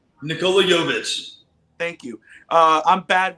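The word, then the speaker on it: Nikola Jović: me a favor say his name for me nikolai nikola yovish thank you uh i'm bad with names uh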